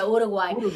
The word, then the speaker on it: Uruguay: And she's like, well, I think it's pronounced Uruguay. No, I'm just kidding. Well, yeah, you are gay. You are gay. Whatever. I say it the Spanish way, Uruguay.